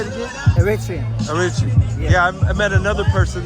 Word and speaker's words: Eritrean: Eritrean.